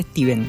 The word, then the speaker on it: Stephen: Me corrigieron que no se dice Stephen, se dice Steven.